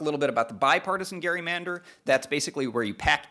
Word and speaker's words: gerrymander: I'm going to call all of them gerrymanders, and I'm going to use the historically accurate pronunciation of gerrymander.